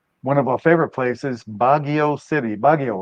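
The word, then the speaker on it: Baguio: we went to one of our favorite places bagio city bagio right is that how you pronounced it bagio bagio that was really a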